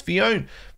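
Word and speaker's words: Phione: like, come on, bro, it's not Manaphy, it's Fionn. Fionn? How are you supposed to pronounce it?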